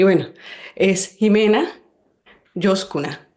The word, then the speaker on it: Ximena: Josh Kuner y es Jimena o Jimena. Bueno, yo toda la vida lo he pronunciado Jimena a pesar de que es con X.